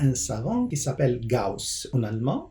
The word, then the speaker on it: Gauss: Cette méthode a été attribuée à un savant qui s'appelle Gauss en allemand, Gauss en français. Le AU, ça se prononce AU en allemand.